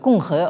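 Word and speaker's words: 共和: Alors, ce binôme, donc Kyowa, qu'on prononce Konghe en chinois, donc c'est la traduction qu'on va retenir donc pour traduire la notion de république en chinois moderne.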